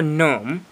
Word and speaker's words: gnome: And I already have a C for comb, M for merge, N for gnome, which starts with a G, but it sounds, well, it's silent.